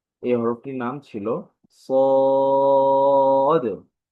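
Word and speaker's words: صاد: ক্লাসে আমরা যে হরফটি পড়েছিলাম সেই হরফটি ছিল সদ। এই হরফটির নাম ছিল সদ। তো এই হরফের উচ্চারণটা কেমন ছিল যেটি আলোচনা হয়েছে সেটি ইংরেজিতে সি এর মতো উচ্চারণ হয়, তবে আওয়াজটা একটু মোটা হয়।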